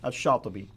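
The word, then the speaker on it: al-Shatibi: Now, how would you pronounce his name? Shatibi.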